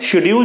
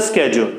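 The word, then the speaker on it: schedule: इसके बाद स्केड्यूल, right, शेड्यूल जिसको बोलते हैं उसका राइट प्रोनाउंसिएशन होता है स्केड्यूल, राइट।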